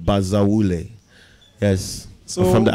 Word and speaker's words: Bazawule: Well, my real name is Samuel Bazawule. Yes, and you have to say it like you mean it. Bazawule.